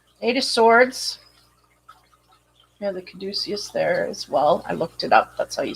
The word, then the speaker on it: caduceus: Yeah, the caduceus there as well.